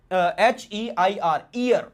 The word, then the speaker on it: heir: अब देखो HEIR, ईयर, इसको ईयर प्रोनाउंस करना है हम लोग।